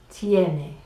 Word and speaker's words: tiene: might ask ¿Qué tarifas tiene? Tiene is the part of tener for usted ¿Qué tarifas tiene? imagine the letters TNA and then you get la pronunciation perfecta necesito un buen coche.